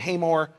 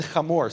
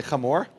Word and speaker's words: Hamor: Now, in the English, you'll see Shechem and Hamor, but it's pronounced Shechem, say Shechem, and Hamor, say Hamor.